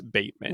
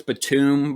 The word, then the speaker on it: Batum: to 10 for nicholas bateman right so yeah uh when you have nicholas batum by the way but i won't fault you for that because it's spelled like bateman yes i know yes sorry